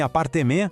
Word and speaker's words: appartement: Assim como em appartement, o T no final é mudo, a gente não fala.